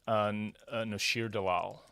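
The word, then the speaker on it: Noshir Dalal: It's Nashir Dalal, right? Is that how you pronounce it?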